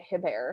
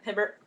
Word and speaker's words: Hibbert: pronounce her last name but talia hibbert or is it hip hair that's it hibbert hibbert okay we just